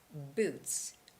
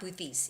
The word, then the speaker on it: boots: So it's boots, boots. Okay? It's not boothies.